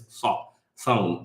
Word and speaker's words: Sawm: It's not the S sound like we have in English. They have two different S sounds in Arabic, and it's Sawm. So try to pronounce it in the back of your mouth.